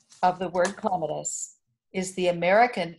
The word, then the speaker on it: clematis: So, the Rogerson Clematis Collection was started by Brewster Rogerson.